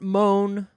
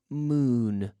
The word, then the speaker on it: moon: the same every time moon not Mon not Mon not Mun no moon moon our word of the